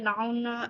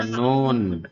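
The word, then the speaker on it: known: दयालु था China was नाउन एज नाउन नहीं है बेटा नोन फिर साइलेंट है नोन नोन as cath Cathay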